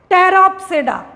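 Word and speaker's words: Pteropsida: सिलोप्सिडा, लाइकोप्सिडा, स्फेनोप्सिडा एंड टेरोप्सिडा। ठीक, P silent रहता है, आप देख रहे होंगे हर जगह पी साइलेंट है।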